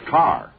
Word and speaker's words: Kerr: if it isn't Deborah Kerr hello Deborah hello Jack Jack her name is pronounced car isn't it Deborah yes